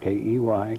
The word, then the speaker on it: Key: Yes, my name is Key, pronounced just like it's spelled, K-E-Y, Key.